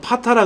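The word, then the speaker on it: PATA: 안 쓰고 뭐를 쓰냐면 직렬 방식의 시리얼 방식의 그 ATA 방식이라 그래서 SATA라고 읽어요. 얘를 다른 말로 말하면 파타라 그래요.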